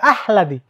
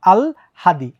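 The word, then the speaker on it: আহ্লাদি: আসছে এটার উচ্চারণ কি অনেকে বলে আহলাদি অনেকে বলে আল্লাদি এটা কিন্তু ভুল এটার আসল উচ্চারণ কি হবে আগে ল আগে ল পরে হ আগে ল পরে হ আল হাদি আল হাদি আল্লাদি না কিন্তু আল হাদি ঠিক একইভাবে চিহ্ন চিহ্ন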